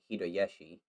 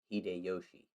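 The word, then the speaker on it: Hideyoshi: as uh takasago koku since 1592 when toyotomi hidayashi hide hide yoshi sorry still learning japanese pronunciation undertook a policy of overseas expansion and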